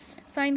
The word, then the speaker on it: syn: साइन कह दें या सिन कह दें, जो है आपकी प्रोनाउंसिएशन पे डिपेंड करता है।